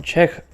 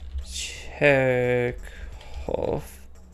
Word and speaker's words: Chekhov: Another lesser idea I had was that the name Chekhov was supposed to reference famed Russian writer Anton Chekhov. That's not right. Anton Chekhov.